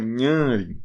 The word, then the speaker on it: Nhanrim: Nhanrim. Tio nas duas sílabas, porque o N nasaliza a da frente.